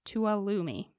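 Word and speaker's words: Tuolumne: right to alumi but it's spelled so different okay it's spelled t-u-o-l-u-m-n-e but I did look up how to pronounce it and I believe it was tuolumi I think you did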